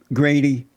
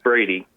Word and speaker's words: Brady: How do you feel about black conservative, Grady? It's Brady. Brady, yeah, Brady. Oh, they have a G here for some reason. It's Brady, not.